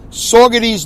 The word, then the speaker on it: Saugerties: And I'm headed home, back to my hometown of sleepy Saugerties, New York, S-A-U, not S-A-W the way I pronounce it, S-A-U the way you spell it, Gerties, G-E-R, Ties, T-I-E-S.